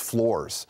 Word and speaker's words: Flores: I mean, the Flores people, and by the way, it's Flores. We've been pronouncing it wrong for not 4 years. Not Flores, Flores.